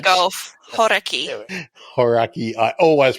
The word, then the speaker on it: Hauraki: Hauraki. Hauraki. I always pronounce it terribly.